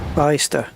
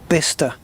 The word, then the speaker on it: Bicester: Bicester. Very close. Very close. It's actually pronounced Bicester.